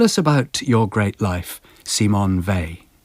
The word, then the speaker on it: Simone Weil: about your great life C Mon Vey C Mon vier well it's lovely to know how correctly to pronounce her because I used to be unsure when I mentioned her name because people didn't respond so I thought perhaps it was pronounced in the German way vile but that didn't produce